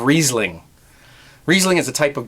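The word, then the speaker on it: Riesling: old wine making videos I said risling instead of reasing reasing is a type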